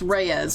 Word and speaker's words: Reyes: And how is that pronounced? Like how I just said it. Ear Oh, it's Reyes. Okay, Vera Reyes, thank you.